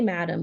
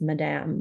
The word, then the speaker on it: Madame: Madam Premier I say Madame but it's actually pronounced Madame like the French I thought it looked